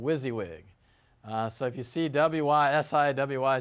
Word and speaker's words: WYSIWYG: w-waahhhhh siwwy gee what's that okay so usually pronounced this as WYSIWYG so that's an acronym for what you see